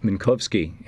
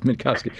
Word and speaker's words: Minkovski: We're talking with Minovski. Am I pronouncing that right? I've never Manovski, thank you. I've never said your last name out loud. Minkovski, the Washington DC correspondent for Russia for RT